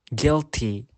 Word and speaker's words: guilty: And letter U can be silent too. For example, guitar, guilty, tongue.